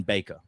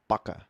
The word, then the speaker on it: Bakker: Is it Backer or Baker? All right. That is a very good question. So it's a Dutch last name, which it's actually pronounced Bakker, which means in English baker.